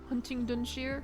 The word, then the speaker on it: Huntingdonshire: The last bit is pronounced Dunshire. Huntingdonshire?